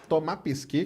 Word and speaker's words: Pesquet: O Thomas Pesquet, que é o jeito certo de falar, francês, né?